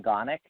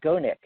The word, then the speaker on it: Gonick: Okay, and his name is Stefan Gonick. So his last name it's spelled like Go Nick.